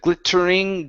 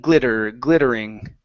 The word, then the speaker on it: glittering: Okay, give me a flap T there. Instead of glittering, glittering.